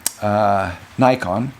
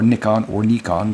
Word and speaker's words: Nikon: The only major company who did not make a half-frame camera was Nikon, or Nikon. The pronunciation varies depending on where you live.